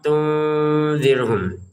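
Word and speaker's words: تنذرهم: Jadi kita harus tahu ya, ini samar, tahan samarnya, jelas, jelas, jelas, samar lagi, iya kan? Jadi gitu cara bacanya ya. A'andzartahum am lam tunzirhum, begitu. Jadi mana yang samar, mana yang jelas, gitu kan?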